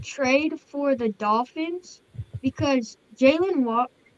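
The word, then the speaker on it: Jaylen Waddle: I think this is a really good trade for the Dolphins because Jalen Waddle. Did I say his name right? Jalen Waddle, yes.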